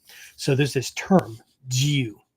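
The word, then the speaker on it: jiyuu: English language characters right you might write g i y u u uh that just tells you to hold the U uh sound twice as long okay um but that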